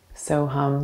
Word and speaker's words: So Hum: the mantra so hum the first syllable is so s o the second hum h-u-m soham the universal mantra which